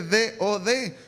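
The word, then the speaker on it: דוד: una raíz hebrea que se escribe D-O-D, que es Dod, que quiere decir amor.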